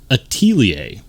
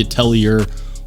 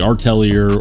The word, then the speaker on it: Atelier: fact how it's pronounced it's not the Atelier or the artelier or whatever it's the Atelier and if you're wondering